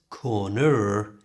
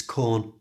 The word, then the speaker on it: corner: To pronounce corner correctly, we use the schwa sound. That's that little sound. It's the most common sound in the English language, and we use it to replace the ER at the end. So it's not corner, it's corner.